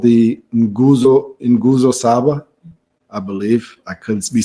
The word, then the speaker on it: nguzo saba: Well, nguzo saba, yes, it's familiar, but the pronunciation is the one that draws laughs from me, So it's putting the N and then.